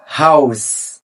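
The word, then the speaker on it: Haus: كده اول كلمه معانا هاوس هاوس يعني منزل معانا هنا مقطع الا او اللي هو الاول الكلمه اللي معانا بعد كده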